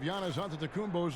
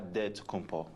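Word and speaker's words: Giannis Antetokounmpo: after this from Milwaukee rather a lot of letters that go into the spelling of Yanis onthe the combos last name he helps set the record straight of how you pronounce it in a deal way you gotta save the D so it's a dead compo but in the Greek way you save it and see like instead to compose whatever you got just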